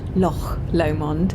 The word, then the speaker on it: Loch Lomond: get to Loch Lomond Loch Lomond if you're going to say it right there's James driving away